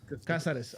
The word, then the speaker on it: Cáceres: Martin Cáceres. Martin Casares.